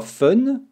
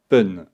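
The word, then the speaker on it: 分: un peu plus complexe normalement on dira fun mais il y a des exceptions pour 1 3 6 8 et 10 on prononcera Pun là aussi regardons un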